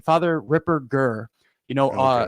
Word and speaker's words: Ripperger: strong German name father Ripper G you know a a hard G not a soft G Ripper Jer and you know it's